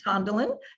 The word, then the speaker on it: Tondalin: my name is unusual it is tondalin is pronounced tondalin john dylan and i